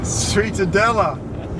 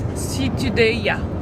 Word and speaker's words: Ciutadella: Sweetadella! Ciutadella. Sweetadella! No, now I can pronounce it well. It's Ciutadella.